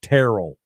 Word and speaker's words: Terrell: Terrell I'm sorry it's pronounced Terrell like Carol with a t dude hello you it's